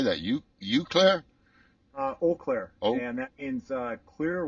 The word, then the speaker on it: Eau Claire: do you say that you you Claire uh Eau Claire and that means uh clear water it's a